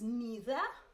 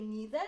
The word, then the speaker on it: neither: Many people pronounce it as neither. You can pronounce it both ways. You can say neither, you can say neither,